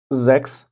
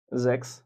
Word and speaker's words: sechs: sechs মানে ছয়। আমি আবার বলছি sechs মানে ছয়।